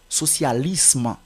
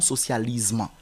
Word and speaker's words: socialisme: prononce pas comme Z c'est anglicisme socialisme et non socialisement d'accord autre mot à